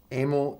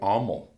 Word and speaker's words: Amyl: Amyl and the Sniffers. No, it's Amyl. Amyl? Okay, but in the U.S. we say Amyl. That's because like amyl nitrate?